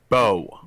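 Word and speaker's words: Beau: say 41 year old bu bu b-e-a-u you say how you say it bo bo okay bo bloomer was arrested friday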